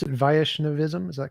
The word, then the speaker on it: Vaishnavism: me some more about uh how do you pronounce it vaishnavism is that correct vaishnavism yes vaishnavism right so within the Hindu complex